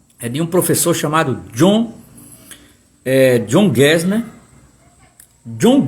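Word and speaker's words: Gassner: Ora, Boal conhece e é aluno de um professor chamado John Gesner. John Gesner é absolutamente fundamental para Augusto Boal.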